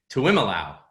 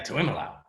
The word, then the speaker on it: Tuiamolau: JT Tuiamolau. How did I do? Very good, Mike. Was that right? Tuiamolau. JT, you got to say it like that, though. Yeah, Tuiamolau.